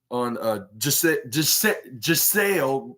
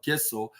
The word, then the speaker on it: Giselle: what your thoughts on Giselle. Hopefully I pronounced that right. I accidentally called her Gissel, which I thought it was with a G rather than